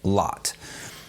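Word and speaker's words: Lotte: A few years ago, Dutch artist and filmmaker Frans Hofmeister released a time-lapse video of his daughter, whose name I believe is pronounced Lot.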